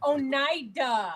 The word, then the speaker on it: Oneida: It's Oneida. If it's got an L in salmon, I say the L. I'm all about pronunciation.